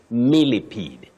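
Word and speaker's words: millipede: the schools or colleges you may hear people talking of miled miled no you say milipede oh centipede not mped no ctip no it's ped just like to impede not to imped okay impede and okay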